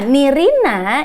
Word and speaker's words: Nirina: Nah, Nirina itu diambil karena kalau di Madagaskar panggilan apa ya namanya ya? Kebangsawanannya tuh namanya Nirin, tapi penulisannya Nirina tapi dibacanya Nirin.